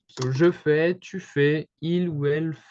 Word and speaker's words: fais: So you can see here that we don't hear the S, we don't hear the T. So it's basically the same pronunciation as in every person, even though the spelling is different.